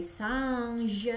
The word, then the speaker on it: singe: Il y a des singes, dibacanya singe ya.